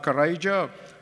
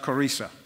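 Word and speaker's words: Qurayza: And so what he did, he killed all the men of that tribe, sometimes referred to as the tribe of Karaja, other times it's pronounced Karisa.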